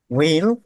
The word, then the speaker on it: হুইল: হুইল মানে চাকা। হুইল না, হুইল। হ্যাঁ, এইচটা সাইলেন্ট।